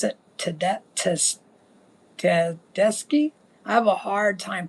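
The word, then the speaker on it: Tedeschi: her name is Susan, and I believe you pronounce it Ted Teski.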